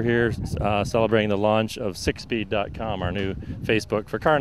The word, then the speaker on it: SickSpeed: And that's spelled SIKSPEED. That's it. Because it can sound like six, right, but it's SIK, right? Right. Sick as in sick fast, sick hot.